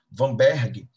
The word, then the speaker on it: Weinberg: de genética de populações vamberg é médico alemão e daí a pronúncia da letra w se como se fosse a letra V se liga nisso por